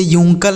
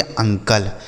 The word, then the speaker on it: uncle: यानी इसे यूंकल नहीं पढ़ेंगे, तब इसे हम पढ़ेंगे अंकल, क्या पढ़ेंगे, अंकल, ठीक है।